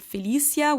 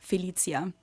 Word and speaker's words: Felicia: to explain well yeah we pronounce it different but it's an international name you can find it in french italian spanish whatever yeah we would say felicia in german some people might pronounce it felicia which more like an s sound but my parents decided that my name is pronounced felicia yeah it's the same